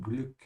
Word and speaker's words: Glück: Yeah, be careful with the umlaut. Stretch your tongue forward until you touch your teeth from behind. Glück.